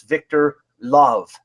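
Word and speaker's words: Lööv: you pronounce his name and he said it's Victor love and it's spelled spelled o l o oov so we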